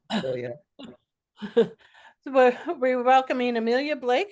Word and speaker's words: Amealya: Is it Amelia or, because in Kenya we would pronounce every vowel and add a W and an R somewhere, just because. Yes, it's Amelia.